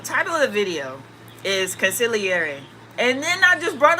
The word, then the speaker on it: consigliere: I had been being called to make a video on this topic, consigliere. I did not know that was how you pronounced it before somebody told me that, I